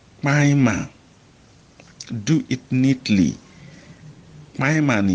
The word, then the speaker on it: kpainma: But when something is neatly, we say maima, do it neatly. Maima ni ye. Now, maima is spelled KPAINMA.